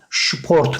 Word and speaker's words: Sport: şıp şeklinde okuyor yani SP olduğunda da kelimenin başındaki s harfini biz şey şeklinde okuyoruz kelimenin başındayız şu Port mesela Sport Sport Sport Sport şeklinde söylüyorlar ya da şu Karen süper